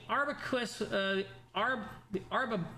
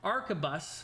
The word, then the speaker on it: arquebus: The Arbacus. No, I'm saying it wrong. Arquebus.